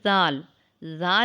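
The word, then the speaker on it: ذال: a light sound later it is pronounced when the tip of the tongue comes out and touches the tip of the top front two teeth read after me Dal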